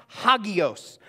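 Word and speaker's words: ἅγιος: do that word holy in the greek is pronounced Hagios and it means to be set apart to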